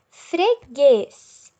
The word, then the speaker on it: freguês: poderia ser pintado o freguês com certeza eu não escuto o som do né eu escuto g linguiça linguiça também é